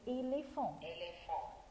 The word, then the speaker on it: éléphant: اوكي يلا نرجع تاني كلمة éléphant. E E accent L E accent P H se prononce F F éléphant A plus N plus T se prononce nasal هنقول en comme quoi comme deux fonds comme quoi comme deux fonds.